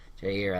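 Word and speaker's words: Jaire: I'm gonna pronounce his name wrong. Jerry Alexander, cornerback. Jerry, yeah, Jair, Okay, I think his name cool. is Jair Alexander.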